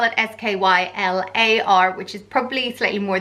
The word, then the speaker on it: Schuyler: you could spell at SK y lar which is probably slightly more the female version but yeah they're both pronounced the same way Skylar and if you were